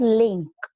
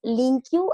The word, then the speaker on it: LINQ: Okay, so this link you, it is also referred as link. Okay, means it can be pronounced as link you as well as link.